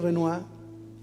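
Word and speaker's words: Renoir: Pier Renoy fue uno de los grandes maestros de la pintura, pero lo que no muchos saben es que Pier Renoa Renoy se escribe Pier Renoa casi los últimos 20 años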